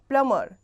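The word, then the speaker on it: plumber: प्लमर यहां पे भी बी साइलेंट है।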